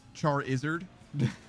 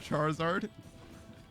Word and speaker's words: Charizard: And it's Charizard instead of Charizard because he's a lizard, right?